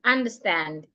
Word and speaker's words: understand: You're stressing stand, understand.